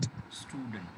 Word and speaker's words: student: चलिए, अक्सर क्या कहते हैं हम लोग इंडियंस कि जो वर्ड्स एस से शुरू होते हैं उनको सा से नहीं बोलते हैं, बल्कि ई से बोलते हैं. कैसे? School, smart, स्टूडेंट. डू you understand that? तो ये प्रोनाउंसिएशन की एक बहुत बड़ी गलती है. इसको सही करना है कैसे? डायरेक्ट सा से शुरू करना है.